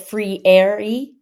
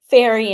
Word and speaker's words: Freire: so we pronounced it free a that's not how you pronounce it in Portuguese but uh the kids really decided how to pronounce that and before that they were saying fairy and Ferrari and all kinds of